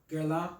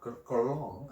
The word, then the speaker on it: Guerlain: Guerlain. Guerlain. Yeah, Guerlain.